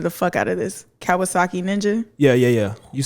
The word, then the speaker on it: Kawasaki: that it was a uh i'm about to butcher the out of this kawasaki ninja yeah yeah yeah you said it perfect